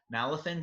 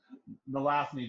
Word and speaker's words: Nalathni: How do you pronounce that? The Nathal. Nalathan Dragon? Yeah, the Nalathan Dragon and the original Mana Crypt book printing incidents. You lived through that. It's the Nalathni dragon.